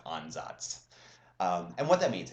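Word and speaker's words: Ansatz: it's completely indecipherable but the word is actually pronounced on Zots and what that means it's it's a trial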